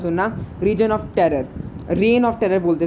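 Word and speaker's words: reign: आई am pronouncing it reason of terror. आप रेन of terror बोलना क्योंकि मेरा मन करता है इसको रीजन ऑफ टेरर बोलने का.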